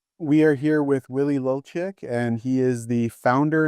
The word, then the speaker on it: Lulciuc: We are here with uh Willie Lolic and I'm sorry, did I pronounce that correct?